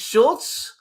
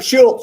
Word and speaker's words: Shoults: So, how do we pronounce it? Schultz. Yes, sir. Schulz.